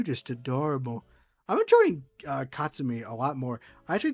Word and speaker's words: Katsumi: Katsumi. So not Katsum. Ka Katsumi. I'm close. That's closer.